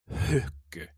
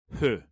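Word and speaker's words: ふ: To say the syllable hu, it's not, you have to throw an H in there like you're blowing out a candle. So it's not fu, it's hu.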